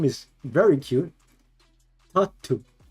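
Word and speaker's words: タッツー: Tatu. Tattoo. Tatu. But it's spelled Tattu. So.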